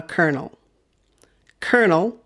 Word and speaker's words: colonel: called a kernel and this one is a kernel kernel kernel i think i've mentioned this word before in the silent letters video but it's good to practice again